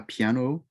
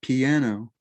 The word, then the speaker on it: piano: batre is drums la piano it's not piano it's not piano as in three syllables it's two syllables la pia no la piano lu saxophone